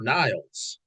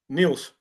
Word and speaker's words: Niels: I mean, how's it pronounced? Neils or Niles? Neils.